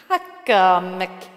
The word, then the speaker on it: Oaxaca: and the strongest today, offshore Oaxaca, Mexico. If that is how it's pronounced. Not that I knew how, I had to look it up. And I'm still not certain.